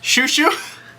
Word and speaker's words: Shizuku: It's called It's pronounced Shushu.